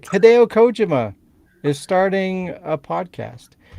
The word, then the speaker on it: Hideo: Well, because the thing is, it's every syllable of the Japanese language is always said, no matter what letters they combine it with. Te, de, o, a, I, u, e, o. It's just, it doesn't change even if you combine it with other characters.